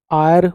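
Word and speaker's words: heir: आएगा नीचे वाले देखो एच साइलेंट है आर आयर उत्तराधिकारी आयरस कोई लड़की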